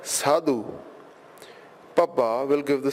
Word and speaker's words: Sidhu: this as gondol Cardle Dada will give the sound of Tata and Dada as in Bandhan or Sidhu note that we are not pronouncing this as Sato but Sidhu Papa will give the